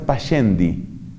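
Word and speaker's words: Pascendi: esa encíclica se llama paz cendi se suele pronunciar para yendi y se escribe para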